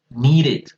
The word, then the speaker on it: needed: que suene el pasado, esto se va a pronunciar como la ID. O sea, wanted, needed.